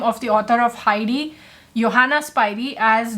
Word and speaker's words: Johanna Spyri: And even very recently, one of my subscribers pointed out that in a video I pronounced the name of the author of Heidi, Johanna Spyri, as Johanna Spyri, and I'm sorry about that, and thank you Kathy for pointing that out to me.